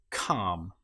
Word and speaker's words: calm: example might be palm in this case the L you will notice is not pronounced at all palm or calm another time when the